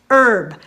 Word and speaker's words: herb: the united states is herb we drop the h just like we do in the word hour h-o-u-r hour as in